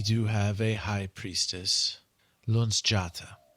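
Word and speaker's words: Luzjata: sorts what we do have a high priestess Lun jata Lun jata yep not going to be able to spell that one l u Z j a t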